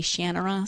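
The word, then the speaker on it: Shannara: series shanara shanara again I don't know how he pronounces it I grew up pronouncing it in my head shanara the Audi book narrators all say shanur so you know I mean who am I to argue that's the thing with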